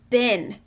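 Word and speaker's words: been: It says bin. When I say bin, it sounds like a short I sound. But when I look closely at the word, I notice it's using the EE pattern, which should make a long E sound. When I say the word bin, I don't hear a long E, which means this is definitely a trap.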